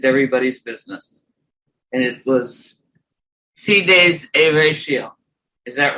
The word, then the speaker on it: fides et ratio: And it was fides et ratio. Is that right, Sebastian? The way I said it? Right, fides et ratio. Fides et ratio.